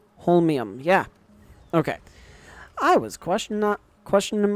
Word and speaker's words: holmium: Holmium, yeah.